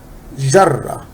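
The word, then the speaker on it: جرّة: Jarra. And we said this sign, which we call shadda, it makes the letter sound double. Jarra, which is we have here Jeem plus Ra.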